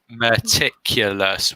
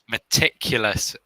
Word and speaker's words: meticulous: used begins with a mug meticulous meticulous yes meticulous where's the stress ridiculous meticulous stress on the tin yeah the first time